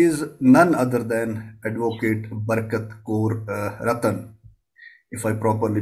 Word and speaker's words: Barkat Kaur: She is none other than Advocate Barkat Kaur Ratan, if I properly pronounced it.